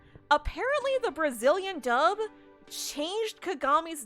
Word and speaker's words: Kagami: in this episode apparently the Brazilian dub changed kagami's name to Kyoko like I know that especially